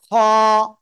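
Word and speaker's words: خاء: আমরা যেটা শিখছি এইটা এই অক্ষরটা গলার ওই কি বলে শেষ ভাগ থেকে আমরা উচ্চারণ করব এবং মোটা আওয়াজে এক আলিফ টান হবে খ সবাই একসাথে এটা উচ্চারণ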